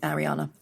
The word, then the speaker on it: Ariana: about her fans, the Arianators, because I'd interviewed Ariana Grande, that's how she pronounces it.